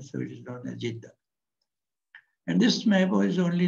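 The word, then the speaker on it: Jiddah: So Jedd simply means mother, and because the city is after this mother, so it is known as Jiddha.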